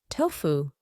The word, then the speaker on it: tofu: sense of deja vu this word originates from Chinese it means soybean kurd it is pronounced tofu tofu she prepared a tofu